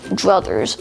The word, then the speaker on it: druthers: once again today's word of the day is druthers spelled h d-r-u-t-h-e r s brothers